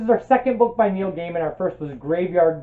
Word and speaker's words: Neil Gaiman: you correct me i looked it up it's Neil Gaiman there's actually a video on YouTube Neil Gaiman tells you how to pronounce Neil Gaiman so yeah so this is